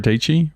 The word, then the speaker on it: Dietschy: cash bought one sarah actually sarah dietschy rhymes with peachy um she's a youtuber